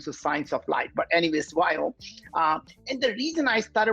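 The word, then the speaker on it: Viome: is science or science of light but anyways why oh and the reason i started was very simple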